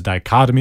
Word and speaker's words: dichotomy: like that so the dichotomy is a good word to know it is spelled di CH OT o my dichotomy di Oh T oh my die cut imme it's a noun and